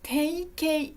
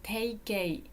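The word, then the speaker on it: 定型: はい、定型と読みます。定型。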